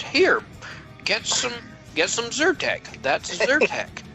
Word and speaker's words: Zyrtec: get some get some Zyrtec that's Intertek it's absurd that sir with a Z we spell it with a Y but say it with you sir - how far should